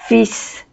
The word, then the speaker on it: fils: Mon fils. Ma fille. Mon petit-fils, ma petite-fille, mon frère, ma sœur, mon grand-père, ma grand-mère. Quería precisar que fils no se pronuncia la L, pero sí la S.